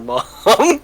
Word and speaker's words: ma'am: he saying ma'am or mom well ma'am is pronounced mom oh okay by him